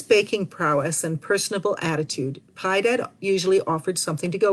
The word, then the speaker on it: Piedad: culinary skills might have contributed to our local pronunciation of his name as pi dad in fact lid notes